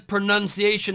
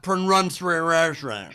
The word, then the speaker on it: pronunciation: horse and i know the word is pronunciation not prone runs foreign i was laughing too